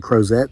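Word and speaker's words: Crozet: Community called cros Virginia spelled like croset C Oz but it's cros named after a World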